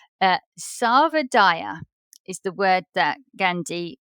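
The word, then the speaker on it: Sarvodaya: is um I have to make sure I pronounce it correctly uh Sava Dyer is the word that Gandhi coined Sava is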